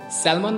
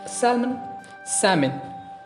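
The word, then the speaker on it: salmon: सैल्मन भाई। It's actually सैल्मन। सैमन। एल यहाँ पे साइलेंट है, तो इसको हम पढ़ेंगे सैमन फिश।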